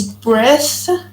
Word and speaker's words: breath: The first one as a noun is breath. You should put your teeth between your you should put your tongue between your teeth.